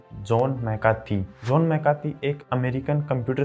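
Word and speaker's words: John McCarthy: इसका उच्चारण सुनने में अटपटा लग रहा होगा, लेकिन इसकी सही प्रोनाउंसिएशन यही है, जॉन मैकार्थी।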